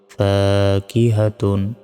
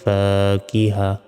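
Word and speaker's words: فاكهة: আলিফ জবর ফা, কবজের কি, হা জবর হা, তা দুই পেশ তুন, ফাকিহাতুন। থামলে এখানে গোল তার উচ্চারণ হবে না, ছোট হার উচ্চারণ হবে। উচ্চারণটা হবে ফিহা ফাকিহা।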